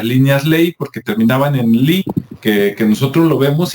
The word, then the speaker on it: ley: ley, nada más que en inglés se pronuncia Lee, ¿no?